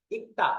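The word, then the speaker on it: 읽다: করবেন ইক্তা থেকে ইলবুসে প্রথমে এটা শুধু গিউ উচ্চারণ হয়েছে লিউল উচ্চারণ হয় নাই ইক্তা ইক্তা এরপরে যখন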